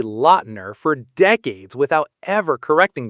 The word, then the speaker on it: Lautner: Tay, lur, loud, ner. Taylor Lautner. And fun fact, Taylor shocked fans by revealing that his family actually pronounces it like Loudner with a D sound, but he let Hollywood say Lautner for decades without ever correcting them.